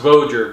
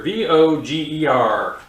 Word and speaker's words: Voger: I believe it's pronounced Voger, V-O-G-E-R.